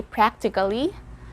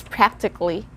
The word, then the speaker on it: practically: is practically again practically the silent letter here is the letter a so we don't say practically it's practically this is actually good especially